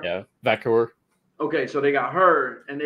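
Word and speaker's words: Vaquer: Vakor? Yeah, Vakor.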